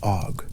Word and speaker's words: Óg: The word og, that single long vowelled syllable, is carrying all of that when it is spoken.